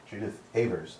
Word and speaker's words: Judith Avers: Mitchell Bell, and we have here in the studio Judith Avers. I'm pronouncing that correctly, right?